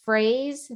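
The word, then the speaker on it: Froese: It's pronounced Fraze, but it's spelled F as in Frank, ROESE.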